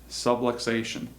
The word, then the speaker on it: subluxation: So, what is a subluxation? Okay, it rhymes with subway station.